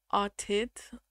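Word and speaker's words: Arthit: Yeah, it's spelled Arthid, but I think it might be Artid or something like that. I think the TH is like a hard T sound.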